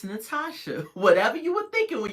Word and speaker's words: Natosha: the time sidebar y'all my name is Natasha but it's spelled n a t o sh you would not believe how many people call me natosha uh n whatever they trying to do with that o I'm like calm down